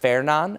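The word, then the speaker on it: Fernand: But the next name up is that's pronounced Fernan.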